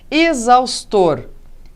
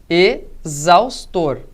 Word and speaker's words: exaustor: Dentro da palavra, veja, exaustor. Dentro da palavra, mas em começo de sílaba, tá? Então, veja lá, tem som de Z.